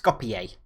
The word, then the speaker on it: Skopje: leg against what google has told me is pronounced skopje so that's who we're playing obviously we lost